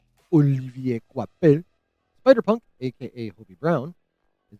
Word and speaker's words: Olivier Coipel: I'm sticking with what I'm pretty sure is the French pronunciation. Olivier Coipel.